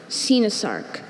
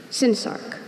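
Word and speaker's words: coenosarc: Sinasarc. C-O-E-N-O-S-A-R-C. Sinasarc.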